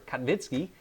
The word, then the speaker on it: Kaminsky: my ancestors are from my last name cut wiki or Kaminsky the proper way to say it I've never been to